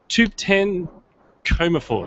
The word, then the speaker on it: Thubten Comerford: going to try and pronounce this try and pronounces that look like an idiot it was uh it's tu1 coma for is that right that's right woohoo thanks Katherine